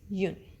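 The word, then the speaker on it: une: You should know that the spelling and pronunciation of number 1 can change. Sometimes it's but sometimes it's yun. If used with a feminine noun like pizza, you say yun pizza.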